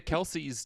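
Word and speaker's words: Kelce: uh I mean the Kelsey do it still and they tell everyone it's wrong and they don't care they're like it's Kel our dad is Kel but we're Kelsey and like what doesn't change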